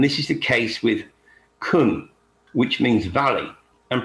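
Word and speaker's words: cwm: from welsh and this is the case with kun which means valley and pronounced like kun as well as proof which is a stringed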